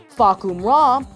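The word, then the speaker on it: Fahkumram: lear's neighborhood when he was a kid so fak ra yes that's how it's pronounced is tekken's Hardcore edgy attempt at a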